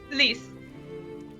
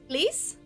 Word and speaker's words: lys: Lease. Lease? Lease? Lease. Lease? Lease. How would you Lease. how would you spell that?